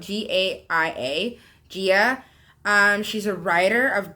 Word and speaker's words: Gaia: That's how I say it, but it's spelled Gaia.